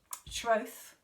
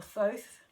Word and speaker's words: Thoth: from the Egyptian god Thoth, or Thoth. It depends how you prefer to pronounce it.